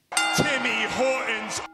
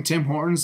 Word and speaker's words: Tim Hortons: Timmy Hortons. Pronouncing Tim Hortons like Timmy Hortons is not cool.